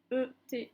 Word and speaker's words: ette: On a un groupe de lettres E, T, T, E, se prononce et.